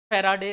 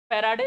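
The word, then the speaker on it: farad: हाँ, फिर फेराडे फेराडे बोलते होगे, फेरेड बोलते हैं उसको, फेराडे लॉ था, यूनिट फेरेड है, ठीक है, फेराडे नहीं है।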